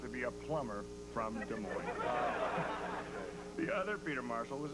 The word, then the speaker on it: Des Moines: Um our booking department tracked him down in Des Moines, Iowa. The S is silent.